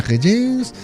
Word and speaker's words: Régence: Eso es, en el Café de la Régence, templo... ¿Ha visto que bien pronuncio Régence? Sí. Que me como la R así como, ¿verdad?